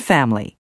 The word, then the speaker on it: family: aspirin separate chocolate family the first e in interesting the first I in Aspirin the first a in separate the second o in chocolate and the i in family are all dropped so that you hear interesting aspirin separate chocolate and family some of the words